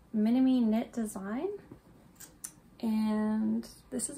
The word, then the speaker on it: Minami: this Polo um by Minami I believe it's pronounced minimi knit design and this